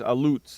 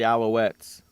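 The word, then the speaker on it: Alouettes: He says alutes. It's pronounced the Alowettes.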